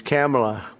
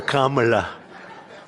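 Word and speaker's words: Kamla: this because, you know, your first name is very similar to a first name that we have, but fortunately it's pronounced different. It's Kamala, as opposed to Kamala.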